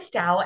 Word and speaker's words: Stough: the years but and stout and the first time I saw it I'm like wait and stuff well it spelled like tough but it rhymes with cow so and style she